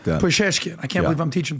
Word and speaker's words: Pezeshkian: Pezeshkian.